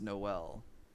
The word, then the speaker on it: Noel: o p it's pronounced noel no l as in no letter l all right that's that